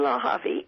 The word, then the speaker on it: Lehavi: Partnerships and here and it's my name and it's spelled d r e n e l lave l e h a v like Victor I